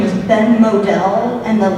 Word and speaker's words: Modell: His name is Ben Modell, and his last name is spelled like model, M-O-D-E-L.